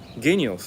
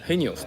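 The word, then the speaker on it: Genios: あれ頭が G だからスペイン語読みでヘニオスって言ってるんですけど、ヘニオス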